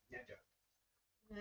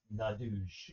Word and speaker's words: Gnadug: The G is silent. G-N-A-D-U-G. Nadug. And, It's pronounced kind of orkishly though. It's kind of like Nadug. Nadouge.